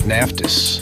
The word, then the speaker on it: Naftis: Matt Naftis. Hello. Good to be here, everybody. How do you pronounce his last name of yours? You nailed it, Naftis.